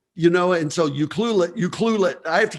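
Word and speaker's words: Ucluelet: it took me years to learn how to pronounce euclid you know you cluelet you know and so you cluelet you cluelet i have to keep saying it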